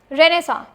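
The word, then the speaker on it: Renaissance: Next is रेनेसा। Spelling बताऊं मैं?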